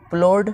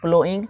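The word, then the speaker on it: plough: प्लो means खेत जोतना, प्लो, प्लोड, प्लोड, प्लोइंग, प्लोज। प्लो होता है ये प्लो, OUGH को प्लो हम कहते हैं, GH जो यहाँ पे साइलेंट है, प्लो, प्लोड, प्लोड, प्लोइंग, प्लोज।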